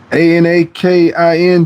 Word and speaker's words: Anakin: I see a n a k i n t wo k ttk. remember me as a guy you gave peanut butter advice to and my name is pronounced like Anakin.